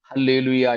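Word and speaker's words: ἀλληλουϊά: ഹായ് ക്ക് പകരം alleluia ഗ്രീക്കിൽ എഴുതുമ്പോൾ എ ആണ് ആൽഫ ആണെങ്കിലും ഉച്ചാരണം ഹ തന്നെയാണ് ഒരു പദത്തിൽ ഏറ്റവും ആദ്യം എ അല്ലെങ്കിൽ ആൽഫ എന്ന അക്ഷരം വന്നാൽ അതിനെ ഹ എന്ന് ഉച്ചരിച്ചു ഇരിക്കണം എന്നാണ് ഗ്രീക്കിന്റെ നിയമം അതുകൊണ്ട് എഴുതുന്നത് ഹല്ലേലൂയ എന്നാണെങ്കിലും വായിക്കുന്നത് ഹല്ലേലൂയ എന്ന് തന്നെയാണ് ഹല്ലേലൂയ ഹോസന്ന ആമീൻ ഈ രണ്ടുമൂന്നു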